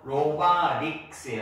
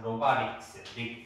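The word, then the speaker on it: robotics: 로바틱스가 아니고 로바릭스예요. 약간 로바틱스. 로바릭스. 릴 발음입니다. 릭스. 그래서 이렇게 돼요. 로바릭스. 이거 T가 릴 발음이니까 T가 중간에 들어가면 발음이 약해져요.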